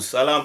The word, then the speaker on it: Salim: Salam. I always say Salam. Why do you say Salim? Salim. Why do you say Salim? I heard someone say you pronounce it wrong.